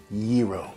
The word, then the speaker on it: gyro: they had slovaki, and they had gyros, which is not the right way to pronounce it. It's actually gyro, but we'll get into that.